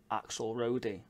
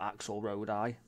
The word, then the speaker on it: axelrodi: Roddy or Road I people from different places of the world say it differently I say axle roadie bought some of us might say axelrod I or whatever so it's